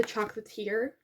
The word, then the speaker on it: chocolatier: She is gonna work in Paris with her former sweetheart, who is a chocolatier. Chocolatier is how you say it.